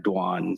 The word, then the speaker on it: Doan: name is is uh dwan so Vietnamese because of French uh the French influence we pronounce it dwan but I'm used to